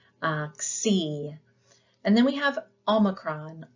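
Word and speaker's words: ὄμικρον: And then we have omicron. Omicron, it looks like a letter O, but we pronounce it with the ow. So as in often.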